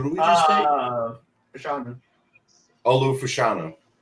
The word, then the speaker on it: Olu Fashanu: Olu Fashanu. Ole Fashanu, I think.